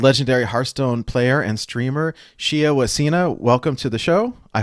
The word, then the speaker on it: Shiawasena: So, how do you pronounce it for the record? Shia Wasena, but you can just call me Shia. Everyone calls me Shia.